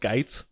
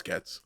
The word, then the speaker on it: Getz: Is his name pronounced Geitz? No, it's Getz.